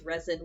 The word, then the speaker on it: resin: in my dialect because I tend to pronounce resin with a z sound but that's just that that would be just my version of English rest sin doesn't sound